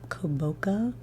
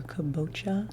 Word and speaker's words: kabocha: correct on this this is I think uh koboka or kabocha squash which is spelled